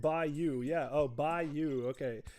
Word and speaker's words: bayou: Arkanu says, also you're pronouncing Bayou correctly. Okay, it's pronounced like Bayou.